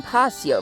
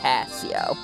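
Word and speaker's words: Pasio: a number of trainers here on paseo right now or pacio it's passio i heard it once before it's pacio sorry for missing sorry for saying it wrong for so many episodes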